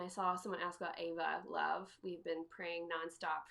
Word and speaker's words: Eva: If you go to the top, hit shop, and then go to, I think it's under more, and then Ava Love. It's spelled EVA. Ava Love.